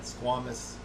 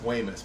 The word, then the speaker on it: squamous: cell carcinoma you got squamous if I'm pronouncing that correctly I don't know Squam cell I've heard it say said pronounced squamous but it looks like Squamish to me but whatever so it's